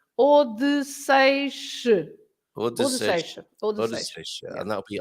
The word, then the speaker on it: Odysseus: Yeah, but it's Odysseus.